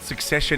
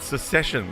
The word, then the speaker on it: Succession: Are you just learning what Succession is? And you pronounce it secession, like so many people do.